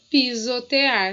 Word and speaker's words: pisotear: padrinho paladar e pisotear notem que parasita se escreve com s e som de z assim como pisotear e aí é muito